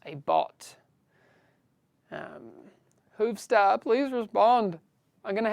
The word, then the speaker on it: Hoovstar: Hoov Star. Please type something. Again, that is Hoov Star. HOOV Star. I have to pronounce the R at the end, because usually I'd say Hoov Star.